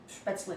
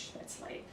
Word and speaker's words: Spätzle: We say Spätzle in German. If you pronounce it a little bit more Americanized, it would be Spätzle.